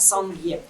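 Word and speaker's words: སངས་རྒྱས: Вот, поэтому они сделали свое новое слово, которое по-тибетски звучит как «санге».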